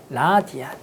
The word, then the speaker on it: 라디안: 그때 우리는 이 각을 뭐라고 정의할 거냐면 1이라고 쓸 거고 단위를 여기에다가 RAD라고 알고 읽을 때는 라디안이라고 읽을 거야. 라디안.